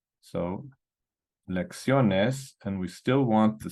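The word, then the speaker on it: lección: in a vowel NRS the stress should be on the second to last syllable but this is an exception the word is pronounced lexion lexion so we're going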